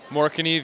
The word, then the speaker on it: Morakniv: moriv and Yuko is that how it's actually pronounced moriv yeah that's correct Yeah we actually have uh